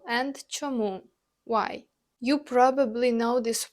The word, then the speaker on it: чому: Next, let's explore чому. That means why. The pronunciation is чому. The stress lands on this second syllable.